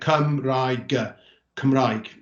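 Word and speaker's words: Cymraeg: say it there so come as in to come yeah come and go rai as in the type of bread that we can have and then go but i i don't pronounce the o so you get come right and that's the welsh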